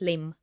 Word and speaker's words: limb: And limb, yeah, it has silent B at the end. Good So it's point. not limb, it's limb, right?